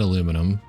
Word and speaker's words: aluminium: I know that Americans say it aluminum, and then the rest of the world says it like aluminium or something.